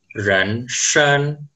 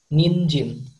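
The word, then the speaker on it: 人参: Oke, yang ketiga ini, di bahasa Mandarin, bacanya adalah ren shen. Ren shen artinya adalah ginseng. Di bahasa Hmm. Jepang, Kalau di bahasa Jepang, cara bacanya ninjin.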